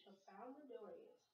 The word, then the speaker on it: Tralfamadorians: Tralfamadorians.